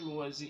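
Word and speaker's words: Lohse: Eu sou Luozi e esta é a Batata Espacial, o seu site de cultura nerd e de cultura em geral na internet. Meu canal do YouTube é o Luozi.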